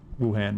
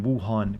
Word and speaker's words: Wuhan: about when it actually happened in real life wuhan wuhan gotta say it right mctavish denied the allegations